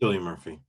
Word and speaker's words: Cillian Murphy: Cillian Murphy? Cillian Murphy.